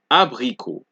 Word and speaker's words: abricot: Also, T's are another set of letters, another letter that you don't pronounce at the end of a word. So you have abricot, salut, vin, abricot, salut, vin, abricot, salut, vin.